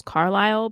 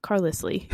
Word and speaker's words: Carlisle: it's like in twilight one of the characters name is carlisle but it's spelled like c-a-r-l-i-s-l-e and so the whole time i was reading books i was like ah carlesley and then i saw in the movies and i was like what how does this work